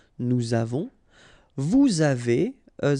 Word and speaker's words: nous avons: Okay, so j'ai, tu as, final S not pronounced, il a, elle a, nous avons, final S not pronounced, and then we make this little link between the two, nous avons, vous avez, a Z